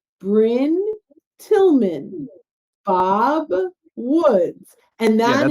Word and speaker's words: Brynne: pretty darn easy right but i get brining br how do you pronounce your name and it's bryn tillman so i learned from